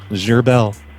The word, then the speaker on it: Gerbel: How do you spell it? Like gerbil? Like gerbil? Like Gerbil, but it's French. It's Gerbel.